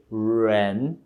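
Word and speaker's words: 人: significa a pessoa né a letra r o pin da letra R em chinês se pronuncia desenrolando a língua ok renn ok É assim que você pronuncia o pin letra R Ok portanto a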